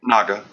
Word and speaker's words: Naga: My wife said I might be pronouncing it wrong, but how do you say, is it Dark Naga or Naga? Naga. That's how I pronounce it, at least.